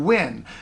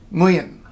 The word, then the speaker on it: Nguyen: it's this thing now I've heard a lot of really interesting and creative pronunciations of this name I've heard nuyen I've heard Winn I've heard young I've heard newgen it's actually lien got that now there